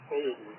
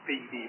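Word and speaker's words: Fedy: pronounce his name, and he said Fetty, like we've been calling him Fetty, not Feedy. He does spell it like it's Feedy, but it's F-E-D-Y, Fetty. That's how he pronounces it.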